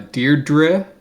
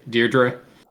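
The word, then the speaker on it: Deirdre: Uh, Deardra. That's how they pronounce this song, but that's how I pronounce the name. Deardra.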